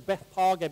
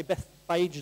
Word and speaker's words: Bethphage: I pronounce, or we're supposed to pronounce as Bethphage, but most of us say Bethphage, don't we, or something like that.